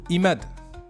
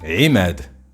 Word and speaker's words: Imad: Moi, je m'appelle pas du tout Imad. Pas du tout. Moi, c'est Imad.